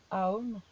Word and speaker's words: Om: Donc on va rajouter maintenant, justement pour les gens qui sont plutôt auditifs, le son Om. Le son Om qui se dit Aum, qui est un mantra puissant.